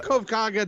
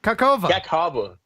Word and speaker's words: Kakhovka: The Kakhovka Dam. I'm looking at it right now. Yeah. You tell me how to pronounce that. Kakhovka.